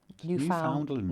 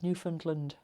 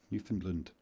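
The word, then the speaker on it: Newfoundland: Yeah, we say New Foundland because us Brits like to pronounce all of our letters and vowels and consonants, but actually over there the they drop loads of letters as New Finland.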